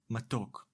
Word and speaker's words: מָתוֹק: Let’s look at the word matók. מָתוֹק The first syllable is ‘ma’, and the second syllable is ‘tok’. Together, matok. Throughout the lesson, I will use a vertical line to separate the syllables.